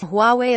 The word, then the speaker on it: Huawei: our South Korean ones Huawei pronounced Huawei is already well known